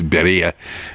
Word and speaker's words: birria: Birria seemed to be the big deal. It's pronounced the way we usually do in English. It's birria or birria.